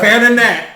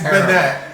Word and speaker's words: Banette: Bananette. It's Banette.